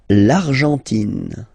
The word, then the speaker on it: Argentine: L'Argentine. Okay, so you've got this nasal here, en, l'argent, and then tin. Don't pronounce the final it just gives you the pronunciation of the N, in.